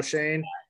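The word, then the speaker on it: Schoen: like JQ said Joe uh how do you pronounce his last name like s okay Joe Shane and head coach Brian dbal or dubal have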